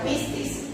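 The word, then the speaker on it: πίστις: Esta palabra se pronuncia pistis y puede significar fe, fidelidad, fiel, gracia.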